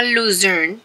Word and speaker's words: Luzern: Nada, nos montamos en el tren, que vamos de camino a Luzern, se escribe Luzerne, Luzern.